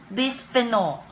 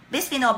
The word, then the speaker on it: bisphenol: It's called, I was even asking Shen, how do I pronounce this word? Bisphenol. Bisphenol, B-I-S-P-H-E-N-O-L-A.